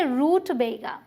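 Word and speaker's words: rutabaga: लेकिन यहाँ आते हैं हम, देखिए यहाँ पर दिख रहा है ना आपको मार्क, तो यहाँ पर हम स्ट्रेस देंगे तो हम बोलेंगे रूट बेगा।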